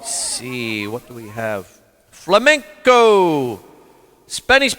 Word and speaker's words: flamenco: Flamenco. Spanish pronunciation, flamenco, is an art form based on